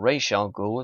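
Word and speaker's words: Ra's al Ghul: make it automatically bad razal ghou or Rael ghoul if you want to go for the comic book pronunciation did not have the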